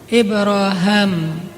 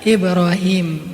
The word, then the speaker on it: Ibrahim: Salah satu yang terkenal yang mengucapkan kalimat ini lebih dulu daripada Rasulullah adalah Ibraham. Kalau dalam salah satu qiraat itu bacanya Ibra Ibraham. Makanya orang Inggris nyebutnya Abraham. atau bisa juga dibaca Ibrahim.